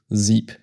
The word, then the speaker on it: sieb: In this case, we drop the en ending from 7 and are left with sieb. 17.